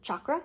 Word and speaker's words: chakra: She was a chakra instructor, yoga instructor, and she said that the way we pronounce it, or the way it is meant to be pronounced, is chakra with a ch instead of a sh.